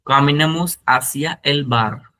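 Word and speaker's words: hacia: H silent होता है हमेशा, हमने आपको ऑलरेडी एक्सप्लेन किया है। स्पेनिश में जब भी एच स्टार्ट होता है तो ये साइलेंट होता है, तो यहाँ से हम लोग स्टार्ट करेंगे आसिया। ए को आप प्रोनाउंस करते हैं आसिया, ठीक है।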